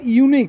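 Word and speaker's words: unique: না সবসময় এন বসে কিন্তু দেখ ইউনিক তাহলে ইউর উচ্চারণ যদি ইউ হয় তাহলে কি হয় না এ বসে তাই না তাহলে এখানে কি হচ্ছে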